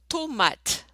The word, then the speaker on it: tomate: And remember, we don't pronounce final E. So you're going to have a syllable with an E at the end, which we don't pronounce in French, the final E.